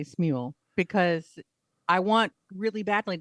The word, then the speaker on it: Smule: I say Smule. I say Um, Smule because mule with an S, right?